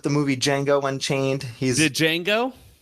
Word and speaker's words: Django: He's Django? Django. The D is silent.